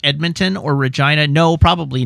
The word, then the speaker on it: Regina: Where it's like Regina rhymes with fun.